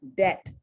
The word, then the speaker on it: debt: So the word is debt. You do not pronounce the B, but you do include the B when you are spelling the word.